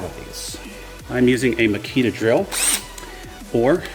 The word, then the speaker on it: Makita: these I'm using a Makita drill or if you are from Japan it is pronounced Maki tough that's right your boy